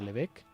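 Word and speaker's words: Lebesgue: la medida de lübeck un apellido francés leve es que esto es una je pero se pronuncia levecq y fíjense aquí estoy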